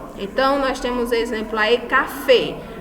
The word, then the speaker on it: café: Então, nós temos exemplo aí, café. A última sílaba mais forte, ela é acentuada, né?